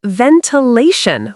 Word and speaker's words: ventilation: Say ventilation with stress on law.